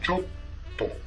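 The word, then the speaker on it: ちょっと: Onde ele se repete duas vezes aqui em Romaji é justamente aquilo que vai representar aquela pausa que nós temos que falar quando pronunciar, né? Nós temos que fazer quando pronunciar. Então fala chotto, na pausa.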